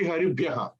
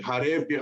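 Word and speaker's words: हरिभ्यः: There is no doubt it has to be Haribhyaha. You cannot make it Harebhyaha or anything.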